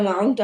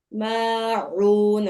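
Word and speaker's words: ماعون: ইউরাউন ওয়া ইয়ামনাউনাল মাউন মাউন। আইন উচ্চারণটা হচ্ছে না আপু।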